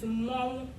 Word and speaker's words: Mmọnwụ: So although the general word for masquerade is Mmọnwụ, there are multiple ways that the Igbo people pronounce the word as in dialectical tongues. So we have Mau, we have Ma as the Nsukka people, we have Mau, we have Mo, Mau, and Mo. But funny enough, the museums